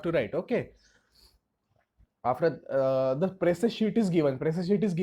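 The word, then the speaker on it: précis: Again, I'm going to pronounce it as presse. Some people will say it is precise. It's up to you.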